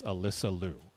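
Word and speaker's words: Alysa Liu: And then the other thing I wanted to to address in the chat is Alyssa Louu has told us to pronounce her name as Alyssa Louu because there was a time when all of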